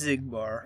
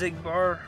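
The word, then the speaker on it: Xigbar: Pretty sure his name is pronounced Ziggbar.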